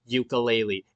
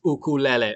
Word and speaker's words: ukulele: But for the love of God, people, stop pronouncing it ukulele. It's ukulele.